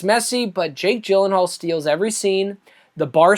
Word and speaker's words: Gyllenhaal: I think that's the correct pronunciation, Gyllenhaal, for people who don't know.